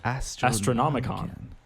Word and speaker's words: Astronomican: Astronomicon. Astronomican. Astronomican. I can. It's weird because it's spelled like Astronomican, but it's always pronounced con.